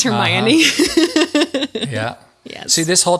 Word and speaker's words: Hermione: Hermione, the very smart lady of the group.